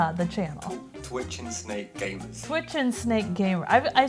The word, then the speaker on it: Twitching Snake Gamers: How is the official way to pronounce the channel? Twitch and Snake Gamers.